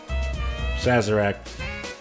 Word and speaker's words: Sazerac: I think I had the French pronunciation in my head. So when I said it in English, it was like, no. Sazerac.